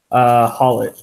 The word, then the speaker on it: Haulotte: Haulotte? Haulotte.